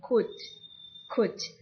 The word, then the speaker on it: could: Untuk L-nya tuh tidak dibaca, jadi langsung could.